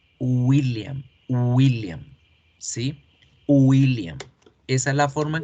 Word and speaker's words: William: La W es una U.